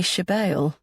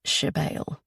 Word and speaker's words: Sybille: Only my mother calls me Shebale, she says, pronouncing the word as Shebale.